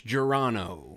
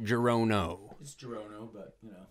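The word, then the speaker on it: Gerono: and this is Geron oh yeah is it and it's Geron oh not jiron oh is it your oh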